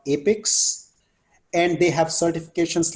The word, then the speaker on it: APICS: It's spelled as APICS, APIX.